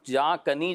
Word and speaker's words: جاں کنی: جہاں کنی جو ہے یہ صحیح تلفظ ہے ٹھیک جو ہے. لغت کے اندر موجود ہے.